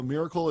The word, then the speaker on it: Mirakl: I mean, I think these guys are pretty impressive, and so Miracle. If you don't see the slides, Miracle is spelled Mirakl. That's Mirakl, and they appear to